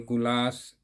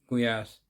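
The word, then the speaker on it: gulyás: it's from Poland after this kuyas they call gulas in India generally they call gulas but we the proper pronounce pronunciation is kuyas so the moment you will tell the name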